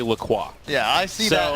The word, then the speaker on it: LaCroix: Is that how you say it? Well, so Yes, their website explicitly it's a bit of a says- toss-up. So it is, yeah, they claim it is LaCroix.